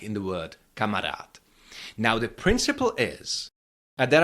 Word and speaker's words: kamarád: and it is that this last letter duh of this word I pronounce it a little bit differently. Kamarat kamarat. You can hear that it's not duh, it's t. And this is called assimilation.